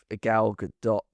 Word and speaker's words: Gal Gadot: It was the remake, the live action remake that came out this year with Gal Gadot. Is that how you say her name? Gal Gadot. Gadot.